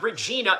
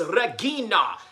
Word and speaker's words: Regina: It's not Regina, it's Regina. And then here's Michael Bisping going, Regina, yeah, Regina.